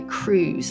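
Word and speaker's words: Krewes: Number seven, Marty Gro parades are run by Cruz, and that's spelled K R E Wes S.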